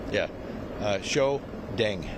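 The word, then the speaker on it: Shiou: Uh show Deng. D E N G. Yeah, it's pronounced show.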